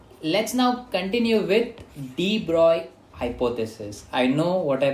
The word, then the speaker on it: de Broglie: let's now continue with de Broglie hypothesis. I know what I pronounced. It is like looks like de Broglie, but it is actually de Broglie, the proper pronunciation of a great scientist.